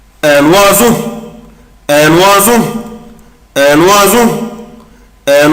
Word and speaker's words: oiseau: une berceuse شنيور un oiseau un oiseau un oiseau un oiseau un oiseau oiseau خد بالك بنطقها ازاي oiseau oiseau نطقها طبعا حرف الاس يا ولاد زد et finalement comme d'habitude